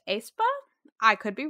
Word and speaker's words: aespa: So I am currently really into the song Spicy by, I believe it's pronounced aespa.